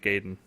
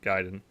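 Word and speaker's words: Gaiden: what Tim said is right that's how you pronounce ninja gayen not giden yes another win for Tim um so uh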